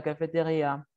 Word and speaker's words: cafétéria: Nadia, vous allez au restaurant ou à la cafétéria? Je vais à la cafétéria. Cafétéria. Recuerden, la sílaba tónica es la última.